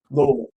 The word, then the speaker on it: Louisville: Louisville and Lowell. Yeah, you gotta say it like you got a mouthful of marbles.